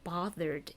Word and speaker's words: bothered: 이거 bothered 여기에서 bother ed 이걸 어떻게 발음할 것인가 그걸 살펴볼 때 ed 바로 앞에 이거 얘 소리가 R 소리죠. 그럼 유성음이니까 유성음일 때는 이 ed를 라고 발음하겠다 이거입니다. 그래서 bothered가 되는 거죠.